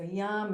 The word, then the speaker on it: yam: So yam is for this, it's for the heart center. And you could think, I sometimes think of the word yum, like yummy, yummy, yummy, like this is the yummy place, it's our heart.